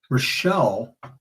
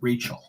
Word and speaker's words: Rochelle: Rochelle corrected me today, nicely, of course, and said it's Rochelle, not Rachel.